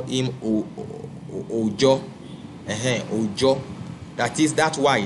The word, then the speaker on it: Oyo: So, but they pronounce the Y as J, and they still keep so many of the words. So the name of God, which is Oyo, they still keep it, but as Ojo.